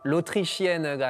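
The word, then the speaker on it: L'Autrichienne: 발음이 조금 다르게 하면 로트리시엔가 아니라 로트르시엔이라고 하면 약간 좀 나쁜 말이 되는 거예요.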